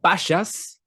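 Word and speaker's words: Bashas': being in business uh bashas i don't know if i'm pronouncing that right spelt b-a-s-h-a-s h.a.s um a grocery store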